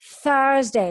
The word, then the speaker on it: Thursday: TH, th. Y es th, like Barcelona, ¿ok? So es Thursday, lengua fuera, ¿eh?